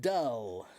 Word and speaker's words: dull: What's the secret to saying doll and dull?